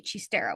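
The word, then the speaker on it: xistera: First of all, chistera is spelled with an x. X I s a so the highlight um the thing that he gets to to throw that's spelled x i s t e r a chistera which I didn't guess.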